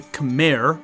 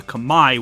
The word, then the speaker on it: Khmer: We are talking about the Angkor period of the Khmer, which is how you would say it in English, or the Khmer, which is the proper way to say it in their native tongue.